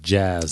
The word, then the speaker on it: Jas: they all do but they do pronounce it jazz jazz yeah okay Jaz Jazz